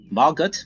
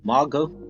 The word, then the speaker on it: Margot: off uh Maro Robbie Margot Margo Margo yeah pronounce his first name it's silent T right yeah yeah he's French